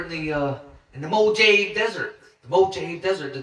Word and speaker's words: Mojave: pronounce is the uh it pronounces the j with an h so we'll be like mojave desert mojave desert in